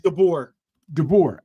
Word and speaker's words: DeBoer: Man, you think, okay, how you pronounce Dober, whatever his name is? DeBoer.